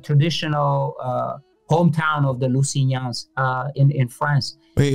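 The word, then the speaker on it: Lusignans: different city yeah it's the g is silent uh it's like the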